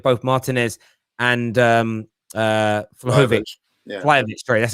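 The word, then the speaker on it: Vlahović: a possibility of both martinez and um uh flokovic yeah that's how you pronounce it if harry kane stays maybe one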